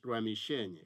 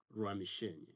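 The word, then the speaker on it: Rwamishenye: majina ya sehemu usiseme ruamishenye kama ninavyosikia wanatangaza makanisani sema ramisheny rutable sio rutabo rutable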